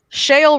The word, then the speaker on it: Shale: gosh speaking of whale shale rhymes with a lot of words mail ale jail bail I just described